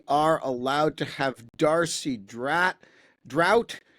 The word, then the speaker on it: Draudt: We're not allowed to have fun anymore, but we are allowed to have Darcie Draught, whose name I am informed is pronounced as though there will be no rain, although it looks like there will be rain.